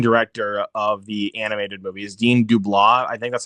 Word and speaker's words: Dean DeBlois: And I loved how, again, this is from the same director of the animated movies, Dean DeBlois. I think that's how you pronounce his name.